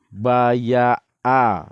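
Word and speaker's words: بَايَعَ: Ini huruf ain, bukan huruf a. Jadi kalau membacanya berdua, baya'a. Nah, itu bilang sama kawan yang baca a itu, ini ain kawan, bukan a. Jadi membacanya baya'a. Hidungnya itu dimainkan.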